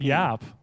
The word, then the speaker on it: Jaap: And first of all, I want to give, is it Hop? How do you pronounce Jaap? Jaap. Jaap.